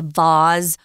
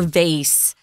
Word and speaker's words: vase: good places you mentioned a really important word that oddly has two different pronunciations and that's a vase or vase and we usually just